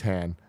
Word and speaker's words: Han: the Falcon then meet on own okay there's dad he wants me to pronounce it like Lando says it so ray waits for her fam steals the Falcon then meets Han finds Luke on island